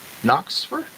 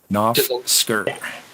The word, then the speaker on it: Knofsker: And 10th is going to be Tim Knoxfer. I say that right? Knofsker. You said it right, but you got it flipped. Knofsker.